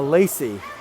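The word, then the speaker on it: Lacz: Lacey Nelson trying to beat Emma Lacey. Decidedly different spellings, pretty similar pronunciation. Lacey Nelson is L-A-C-I, Emma Lacey is L-A-C-Z.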